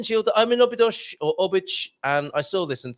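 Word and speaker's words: Óbidos: Do you say Obich rather than us foreigners who say Obidosh? Obich. Obich. And we need Antonio. Can you send me one of your recordings, Carl? The correct pronunciation of Obidosh is Obich.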